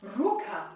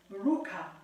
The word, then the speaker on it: ruka: These words are ruka, ruka, ruka. Don't worry if you can't roll your R's. Ruka, ruka, ruka.